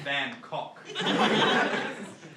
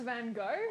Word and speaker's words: Van Gogh: So I've heard of Van Gogh, but not Van Cock. I think it's pronounced Van Gogh.